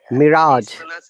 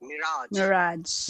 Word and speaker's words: mirage: It is pronounced Mirage. Mirage. British accent. Mirage. Yeah. That is American.